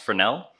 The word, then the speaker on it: Fresnel: And I know it's spelled Fresnel, but it's a French word, so it's pronounced Fresnel.